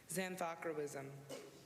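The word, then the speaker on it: xanthochroism: That's xanthocroism. Xanthocroism. Participation? Xanthocroism is the only pronunciation.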